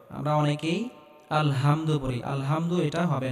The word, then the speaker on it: আলহামদু: আলহামদুলিল্লাহি রাব্বিল আলামিন এখানে আমরা বড় হা উচ্চারণ করব গলার মধ্যে হালকা চাপ দিয়ে উচ্চারণ করতে হবে আমরা অনেকেই আলহামদু পড়ি আলহামদু এটা হবে না আলহামদু হবে আলহামদু লিল্লাহি রাব্বিল